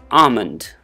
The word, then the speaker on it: almond: again in the similar pattern we call it almond almond almond how about this this is a